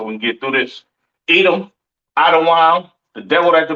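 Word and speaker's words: אדום: I'm saying so we can get through this Edom Adam the devil that the Bible speaks of your oppressor the so-called Caucasian man woman and child pronounced adaan uh excuse me Syrian Hebrew to your far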